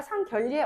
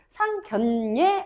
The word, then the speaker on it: 상견례: 결리라고 하지 않잖아. 자기야, 우리 부모님이랑 양가 상결례 언제 할까? 라고 얘기하지 않죠. 그치? 상견례 언제 할까라고 이야기하지. 비슷한 예시 하나 더 있어요.